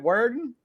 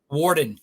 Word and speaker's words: Worden: Worden? Warden. It's like the WA, Warden.